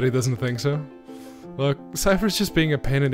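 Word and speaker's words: Seifer: You don't get along with Cypher, do you? Yes, that's how you pronounce that name.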